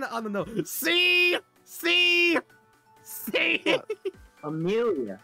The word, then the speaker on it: Amelia: Amelia. That's how you pronounce Amelia. Amelia. That's why it's on the nose. Amelia. See, fuck Amelia. It's Mela. Fuck you. It's not Mela.